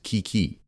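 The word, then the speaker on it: 危機: as ownio me or the Japanese rendering of the imported Chinese pronunciation as Kiki meaning crisis political leaders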